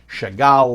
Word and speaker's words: Chagall: with a last name Siegel or Sehgal or sometimes it pronounced Chagall like the famous artist that's a Russia